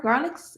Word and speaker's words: Garlitz: Garlitz. Is that right? I pronounced it right? That's right. Yeah, Garlic, Garlitz.